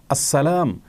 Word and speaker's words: আসসালাম: আল্লাহ রাব্বুল আলামিনের গুণবাচক একটি নাম, সেটাকে শুদ্ধ উচ্চারণ করলে নিশ্চয়ই আল্লাহ তাআলা খুশি হবেন। কারণ নামকে বিকৃত করে যদি কেউ উচ্চারণ করেন তিনি কখনো সন্তুষ্ট হবেন না। অতএব আসসালাম এভাবে বললে আল্লাহ তাআলা খুশি হবেন।